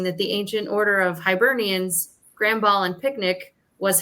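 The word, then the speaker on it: Hibernians: Hernians. If anyone's involved, feel free to correct me. Do you know Hiburnians sounds like an animal that's sleeping for the winter.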